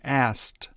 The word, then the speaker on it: asked: Once again, in the past tense, the pronunciation of asked is very difficult to do, so it's simply pronounced ast, asked.